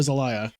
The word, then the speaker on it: Zelaya: Is it Zelaya or Zelaya?